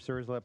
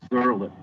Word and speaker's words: Surlip: Surslip will be Deirdre Brand, and then Michael Uday and Steve Aspel. That's Surlip, by the way. The S is silent.